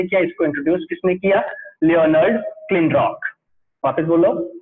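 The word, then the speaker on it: Leonard Kleinrock: लियोनार्ड क्लिनरॉक. वापस बोलो, लियोनार्ड क्लिनरॉक. Okay, तो इसका मैंने प्रोनाउंसिएशन आपको बता दिया है.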